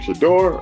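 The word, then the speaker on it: Shedeur: Shador? Am I pronouncing it right? Yeah, Shador.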